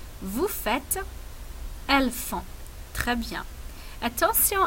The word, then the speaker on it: vous faites: Je fais, tu fais, il fait, nous faisons, vous faites, elles font. Très bien. Attention à la prononciation ici. C'est nous faisons. Et ici, c'est vous faites.